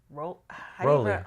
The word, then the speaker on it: Rollei: So the first one we have here is a vintage compact Rolly. Rolly? You pronounce it Rolly, yeah.